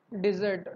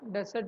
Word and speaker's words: dessert: So it's pronounced as a dessert, not as a desert which is in a barren land.